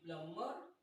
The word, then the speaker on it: plumber: So we do not say the sound of B as in climb, as in debt, as in plumber, and so many words like this.